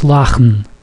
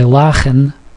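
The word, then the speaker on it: לאַכן: In Yiddish, you do not pronounce the E. The E that you see here, you do not pronounce it. It's lachen. There is no E at the end.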